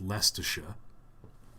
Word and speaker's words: Leicestershire: I'll have you know that's pronounced Leicestershire.